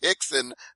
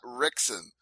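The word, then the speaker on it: Rickson: a real head CU he pronounced it Hixon not rickon and and you you could always tell the difference between a guy who's trying to sound clever and a guy who actually knows what he's talking about by how they pronounce the r now it is the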